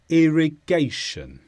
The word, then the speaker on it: irrigation: to describe another noun the stress is on gay irrigation and it's the process of